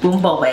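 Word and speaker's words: Bún riêu: Bun Rieu.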